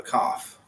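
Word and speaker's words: כּ: And the third one we have seen before, the cough, but this time it's got a dagesh in the middle of it. Right, also makes a hard K, hard K sound.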